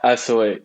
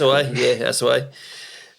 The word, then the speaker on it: Assoe: And today we've got Steve Assoe. Is that how you pronounce it? Yeah, Assoe, exactly. Assoe. And he's works with NFTs in the artistic community in Montreal, Canada.